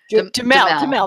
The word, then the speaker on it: Duhamel: Duhamel.